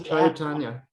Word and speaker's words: Chaitanya: Oh, at the 25 seconds, he explains how to pronounce Chaitanya. And I just naturally, I think I hear Chaitanya. I don't know. Yeah, that's what he's saying. He says Chaitanya.